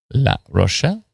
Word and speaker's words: La Rochelle: Is that how you pronounce it? Anybody? La Rochelle. Oui. Perfect. Thank you.